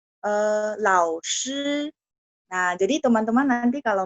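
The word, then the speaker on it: 师: Cara bacanya saya ulang, lao, shi, SHI bunyinya shi. Dia bukan bunyi si, no. Shi, ya. SH, H itu artinya lidahnya agak diangkat.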